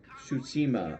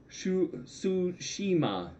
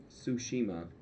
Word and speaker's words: Tsushima: call it got because i can't pronounce shushima i always feel like i'm saying it wrong no matter what i say are not so much my favorites that's funny tsushima tsushima oh that's helpful thank you tsushima all right hey jimmy